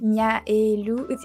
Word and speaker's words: Miaelou: pretty hard to pronounce because of the A and E just after, like Mia et Lou, which is pretty weird to pronounce for non-French people, I think, because I